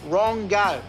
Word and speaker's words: Rongo: You know, Rongo, he pronounces his name fucking Rungu, whatever they say in their Maori language. But fuck, I tell you, in Australia, it's pronounced Rongo.